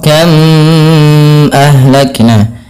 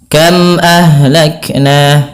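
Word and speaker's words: كم أهلكنا: tidak boleh ada penahanan contoh penahanan itu bagaimana contoh kam ahak Nah itu ada penahan harusnya tidak ditahan dan tidak ada penahanan kam ahlakna begitu saja kemudianal ahlakna Ha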